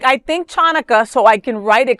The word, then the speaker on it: Hanukkah: Like for me, like I think chanukah so I can write it correctly out of respect. Of course. It's not chanaka.